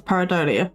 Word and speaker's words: pareidolia: Again, you're one of the few people I've heard pronounce pareidolia properly.